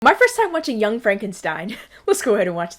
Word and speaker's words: Frankenstein: school you know I have one question Dr Frankenstein that's Frankenstein it is it is Frankenstein my name is pronounced Frankenstein but aren't you the grandson of the famous